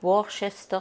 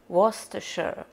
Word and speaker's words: Worcestershire: Il y a plein de monde qui prononce ça Worcester sauce, machin, on ne sait jamais trop comment, mais c'est Worcestershire.